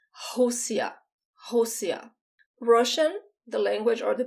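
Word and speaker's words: Rússia: the country josiah so when the r is the first letter it sounds like the age in english and the two asses just sound like s housia russian the language or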